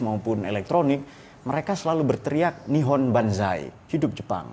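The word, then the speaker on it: 日本: elektronik mereka selalu berteriak nihon Banzai hidup Jepang itu n itu Nippon itu loh cara bacanya nih on Kemudian pada kita enggak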